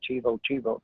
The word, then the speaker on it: Chiva Chiva: I think they call it Chiva Chiva Trail. Now that's the Spanish pronunciation of it.